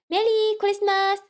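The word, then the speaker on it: メリークリスマス: say this very straightforward they say just like you said in english just a bit of change in the accent they say meli christmas merry christmas that's how they say it it's just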